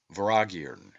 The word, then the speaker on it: Vortigern: The T is silent and M is inflected, as is common in the Celtic, and is given the sound of V. The word is phonetically pronounced Voragirn and signifies a great lord, a prince, or ruler.